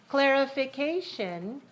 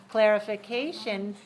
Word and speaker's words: clarification: asking for a clarification clarification this word has clarification has five syllables and it's dressed on the fourth clarification is in the same